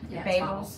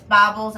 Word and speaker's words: Bobbles: mirror image them um bobbles amazing babels oh it's bobbles i'm saying it wrong um so that doesn't